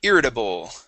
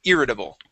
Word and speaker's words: irritable: Uh, let's go to irritable. So, right up here, this the stress. Yeah. Stress is at the beginning. Irritable. Irritable.